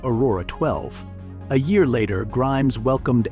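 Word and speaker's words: X Æ A-12: In 2020, Xavier Musk was born, an instant global sensation due to his unusual name, pronounced Aurora 12.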